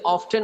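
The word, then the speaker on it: often: আমরা অফেন এবং অফটেন দুটো ভাবেই দুভাবে ব্যবহার করতে পারি ঠিক আছে দুটোই সঠিক কেউ যদি অফটেন বলে আমরা তাকে ভুল বলতে পারবো না কেউ যদি অফেন বলে তাকেও ভুল বলতে পারবো না দুটো উচ্চারণ সঠিক ওকে ওকে হাউ অফটেন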